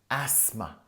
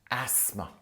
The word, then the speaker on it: asthma: the pronunciation of Asma it's got a th but you don't really pronounce it like that it's asthma asthma and if something flares